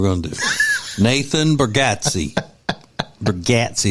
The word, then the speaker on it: Bargatze: His name's pronounced Bargatze. So if you're a fan of his and you don't pronounce it Bargatze, then I already know more than you do about it. Well. It's not Bargatze. It's Bargatze.